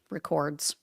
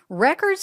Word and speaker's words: records: Bloomberg added, quote, records. There I go again. Putting the wrong emphasis on the wrong syllable. Anyway, they wrote, quote, records obtained as part of the money laundering probe were stored at the U.S.